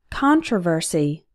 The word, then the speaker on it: controversy: on consequence contact contract controversy controversial notice that the stress changes in controversy the stressed syllable is con but in controversial the